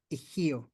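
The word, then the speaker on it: ihyo: And the other thing that you have is your ihio. It's spelled I-H-Y-O, ihio, which means it's your wind, the way you talk, the way you express yourself.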